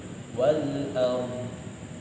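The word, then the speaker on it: الأرض: Nah itu ada dot di akhir, teman-teman harus dibaca, jangan sampai hilang, jangan sampai teman-teman bacanya lahu ma fis samawati wal ard, tapi bukan wal ard, itu salah ya. Jadi harus ada dotnya di akhir, wal ard, ada muncul huruf dot walaupun dia nggak disebutkan secara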